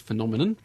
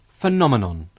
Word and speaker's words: phenomenon: Researchers who questioned 3,000 people found the most mispronounced word was phenomenon, followed by anaesthetist, Anaesthetist? and remuneration. Callum, which word was the most troublesome, the most difficult to pronounce? Well, that was phenomenon.